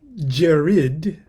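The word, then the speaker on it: Djerid: spell it for you it's probably pronounced jared d-j-e-r-i-d in the oasis of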